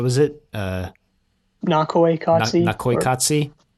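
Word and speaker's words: Naqoyqatsi: recording a wikipedia here it's actually nakoykatsi that's how you would pronounce it interesting yeah yeah i don't know that might not be exact but i think that at least the emphasis is on the first syllable there yeah well he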